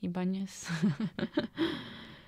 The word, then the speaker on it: Ibanez: How do you pronounce it in English properly? Ibanez.